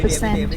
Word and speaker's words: percent: Percent nhấn vào 2.